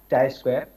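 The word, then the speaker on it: chi-square: square but not it is the symbol of Chi Square pronounced as Chi square of chi Square as a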